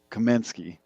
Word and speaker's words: Kaminsky: Kaminsky. I gotta say it right for the Polish brethren.